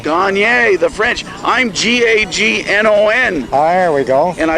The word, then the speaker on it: Gagnon: How do you pronounce it? Gagne. Gagne, the French. I'm G-A-G-N-O-N.